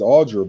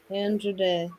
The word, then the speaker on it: Andra Day: Her name is Cassandra, so it's Andra. Okay. Andra Day.